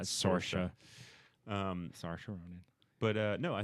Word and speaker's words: Saoirse: Sayors did it, or I'm saying her wrong. Saoirse. Is that how it's Saoirse pronounced? Ronan, really? yeah, Saoirse. Wow. Yeah. That's not at all what it looks like. Yeah, I know. Saoirse. It's Dang Irish.